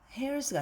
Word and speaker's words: heirs: 네, heirs는 묵음이죠. H가. 그래서 heirs가 아니라 heirs of God, 하나님의 상속자입니다.